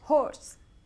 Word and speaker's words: hoarse: Horse. Se pronuncia igual que un caballo.